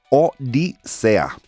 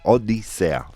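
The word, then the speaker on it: Odisea: Um, I'm getting a little pronunciation key for my Spanish here. Odisa, like OA, thank you. Odisa.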